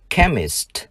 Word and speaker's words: chemist: Danh từ trường học, chữ CH chúng ta đọc là K. School. Danh từ dạ dày, stomach. Nhà hóa học, chemist.